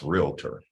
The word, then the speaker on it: realtor: And by the way, if I can just say this, it's pronounced realtor. I had a conversation with someone. How many of you guys say realtor? Realtor. We got to get that one right.